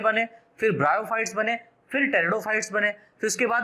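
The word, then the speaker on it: Pteridophyte: algae comma ब्रायोफाइट्स तथा टेरिडोफाइट, PTE, P silent रहता है इसमें, टेरिडो, PTERI रिडो, DO fight, PHYTES टेरिडोफाइट्स, algae, ब्रायोफाइट्स एंड टेरिडोफाइट्स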